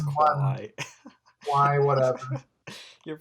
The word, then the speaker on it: Kwai: Like, you get like the Bridge Over the River Kwai is probably the only It's Kwai. Why, whatever. Your pronunciations are pretty how could I put it today?